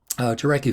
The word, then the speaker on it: Jarecki: So the person that put the film together, Andrew Jarecki, I think Jarecki is the correct pronunciation.